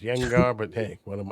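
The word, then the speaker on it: Gjengaar: Now, the one thing we didn't talk about, I like, and I call him Gengar. That's what I'm always going to call him. But I think it's pronounced Yengar, but hey, what am I?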